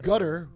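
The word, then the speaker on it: Qatar: This is using Gutter. That's how you pronounce Qar.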